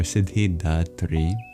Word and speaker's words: Siddhidhātri: And then the H after the D is no silent letter, as Sanskrit differentiates between aspirated and unaspirated plosives.